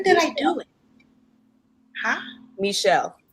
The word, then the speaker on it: Michel: um i i've known michael for since when did i do it huh michelle i was saying it wrong too all right did i say michael i'm sorry i always want to say michael i know hi honey